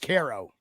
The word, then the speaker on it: Cairo: It's pronounced Cairo. No. Caro. What? Right here, it's pronounced Cairo.